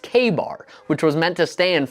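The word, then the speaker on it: Ka-Bar: They like this story so much that in 1924 they trademarked the term Kabar, pronounced KBAR, which was meant to stand for kill a bear.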